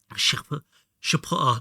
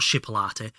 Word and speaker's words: chipotle: Chipotle, not chipolate. Chipotle chicken chili. I can't do it. Am I going to have to ring Kyle? I swear we had some book and quills hidden somewhere. Chipolate. Chipotle.